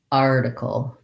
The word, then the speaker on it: article: Then I can build from the back, kul, decul, decul, article.